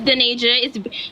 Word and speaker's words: Denaja: That's not my name. It's Denaja.